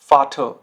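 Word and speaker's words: Vater: हल्का सा अ आपको साउंड करना है, आपको एयर बोलने की जरूरत नहीं होती है, ठीक है। कैसे, देखिए, बेसर, बेसर, मैं आर साउंड नहीं कर रहा हूं एंड में, ठीक है, ध्यान से सुनिए। बेसर, जुपर, जुपर, फाटर, फाटर। तो इसमें जो है आपको आर जो साउंड है वो साइलेंट रखना होता है, ठीक है।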